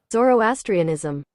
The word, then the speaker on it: Zoroastrianism: to oh we do have the pronounce correct pronunciation Zoroastrianism zor zoroastrian Zoro as Zoro I say still